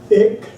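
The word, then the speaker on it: ਇੱਕ: So we are going to call it Ik. Here is the Punjabi representation, and here is how it is written in Gurmukhee script. Ik with Adhak, with stress up there.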